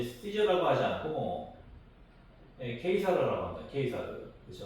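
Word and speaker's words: Caesar: 어 지금 K를 쓰지만 옛날에는 이제 C로 썼다는 거죠. 그래서 C가 이제 키 발음이에요. 그래서 아 세계사에서 저건 이제 시저라고 하지 않고 예사르라고 합니다. K사르 그렇죠. 어 K사르 저 사서로도 마찬가지예요.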